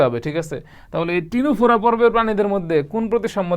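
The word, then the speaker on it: Ctenophora: এর মধ্যে এরকম একটা পর্বের নাম হচ্ছে টিনোফোরা। কি পর্ব? টিনোফোরা। এই টিনোফোরা দেখেন টিনোফোরা পর্বের বানানের মধ্যে নামের শুরুতে সিটা যে আছে সিটা কিন্তু উজ্য আছে আছে কিন্তু উচ্চারণ হয় না অনেক মানুষের জীবনে আমাদের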